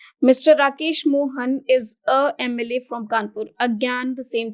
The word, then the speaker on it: MLA: the next one Mr Rakesh Mohan is a MLA from kpur again the same thing happens over